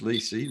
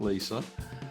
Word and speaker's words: Lisi: It's Lisi, not Lisa.